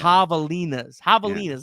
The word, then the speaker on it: Javelinas: It's ha, but it's like a deep J. Yeah. Javelinas.